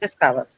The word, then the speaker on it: discover: So um uh it has three syllables this ver and where do you mark it on the second syllable right?